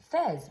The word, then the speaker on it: Fez: Fez rhymes with Pez.